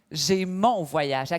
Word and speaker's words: J'ai mon voyage: "J'ai mon voyage." Nhấn trọng âm vào chữ "mon".